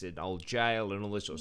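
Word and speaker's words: gaol: the haunted hotel is the derby jail or gal the juice pronounce it jail or gal Scott one of those it's like GA as yeah g-a-o-l but anyway yeah my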